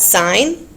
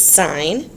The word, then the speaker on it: sine: So we've got sine, cosine, and tangent. So this is sine. It's not pronounced sin, it's sine.